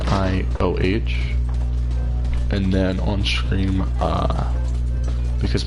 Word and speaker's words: Nioh: I think I'll play Neo in my off time. I think that's how that's pronounced. It's Nioh.